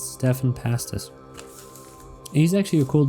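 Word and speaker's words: Stephan: I've been calling him Stephen Pastis, and that's completely incorrect. It's Stefan Pastis. It's my fault. It's Stefan Pastis.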